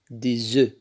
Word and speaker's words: des œufs: إذن لو مو اف ملي كتكون سانغوليي يعني في مفرد كنقولوا ان اف، ولكن ملي كتحول للبلوريال يعني الجمع كنقولوا دي زو. دونك اف الاخر ما كتنطقش ملي كتكون في البلوريال.